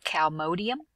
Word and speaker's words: calmodulin: Smooth muscle depends on calmodulin. This is how you pronounce it.